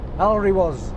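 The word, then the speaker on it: Alrewas: This is how it's pronounced. Alry was. Or if you're posh and you come from there, it's Alry was, but it's Alry was. Alry was. Yeah. That is how you pronounce that word.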